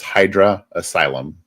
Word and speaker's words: Hydra Asylum: So I tell people it's like the easiest way to remember how to say it is Idris Elba. Hydra Cyber. Idris Elba. Hydra Elba.